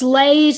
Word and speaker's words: Leys: Is it Lees or Lays? Leys. Just an interesting tidbit, Bonnie has to say. Bonnie, do you want to turn your microphone on and tell me how badly I mispronounced his name? Yeah, it's Lays, Leys.